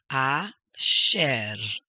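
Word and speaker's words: אֲשֶׁר: The next is asher, asher. Accent mark is here, so that's where the emphasis goes.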